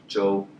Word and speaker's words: Zhou: It's like J-O-E, yeah. But say it with a more neutral intonation.